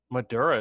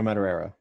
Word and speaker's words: Madureira: moderate that was magic can you say his name madura is how I've always said it Jo mad it's mad mad Araya though matter reira Joe Madureira yeah so this is